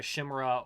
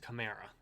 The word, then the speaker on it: Chimera: For Warhammer 40k players, think a Chimera or a Razorback. A Chimera, excuse me, it's a Chimera. I always mispronounce that word.